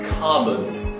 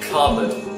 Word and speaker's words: cupboard: After that, cupboard, cupboard. Don't pronounce it cupboard, cupboard, cupboard.